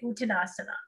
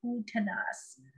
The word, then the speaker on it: Uttanasana: Okay, Uttanasana. And typically in Sanskrit, that A is silent, but I can't quite do it. Uttanasana.